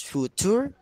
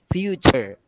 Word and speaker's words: future: can action to pronounce food tour okay so don't ever say food tour again in the next time okay but say future together future okay good yes